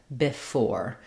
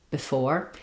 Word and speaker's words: before: So in the dictionary, they're going to mark this E, this unstressed vowel, as an I sound, before. But because it's so short and reduced, if I used an sound there, before, you can't really hear